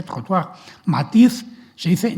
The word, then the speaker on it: trottoir: Todavía en alemán existen muchas palabras francesas que se usan, como por ejemplo trottoir, acera, pues se dice en francés, se dice trottoir.